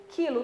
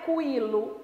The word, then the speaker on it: quilo: aí não é dígrafo mas quando você diz quilo quilo não é cuilo hugo não é pronunciado